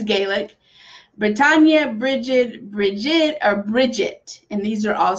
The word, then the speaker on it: Brigid: pronounce her name it's Bridget okay that's how we speak it now in common English is Bridget but you can pronounce it as Breda however is usually Bridget